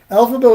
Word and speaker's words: Elphaba: Elphaba was named for the book's author, L. Frank Baum. If you say his name real fast, it sounds like L. Frank Baum.